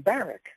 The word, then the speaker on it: Barack: And by the way, he he pronounced his name Baric.